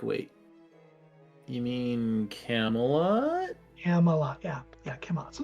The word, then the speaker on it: Camelot: uh Camelot yes yes say it again Camelot Camelot that's how you say it Camelot I'm dyslexic okay it looks it looks one way to say it but it doesn't sound right Camelot got it I